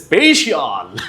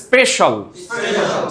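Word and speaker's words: special: আবার সেদিন একজন বলে স্পেশিয়াল, ঠিক আছে? তো সে ডবল ভুল করছে, প্রথমে স্পেই তারপরে কি শিয়াল। তো আমরা শিয়ালের তো আগেই থেকেই কি করে দিছি? শেষ করে দিছি। তাহলে এটাকে বলতে হবে স্পেশাল, স্পেশাল, ফাইন্যান্সিয়াল, কমার্শিয়াল না কমার্শিয়াল?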